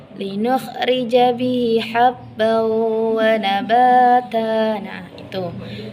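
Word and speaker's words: بِهِ: Kalau riwayat lain bacanya linukhrija bihi habba wa nabata. Nah, sedangkan pada riwayat halaf ini bihinya itu satu harokat. Jadi cara membacanya linukhrija bihi habba wa nabata.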